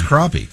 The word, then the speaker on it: crappie: It's not pronounced crappy. It's crappie.